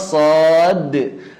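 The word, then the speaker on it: صاد: Karena suara terakhir dari nama huruf shad adalah huruf dal. Shad. Nah, ini kolkolahkan dalnya. Nggak bisa kita bacanya shad. Nggak bisa. Ya, begitu. Karena kita tidak sedang membunyikan suara shad, tapi sedang menyebutkan namanya. Dan di dalam nama shad ada huruf dal.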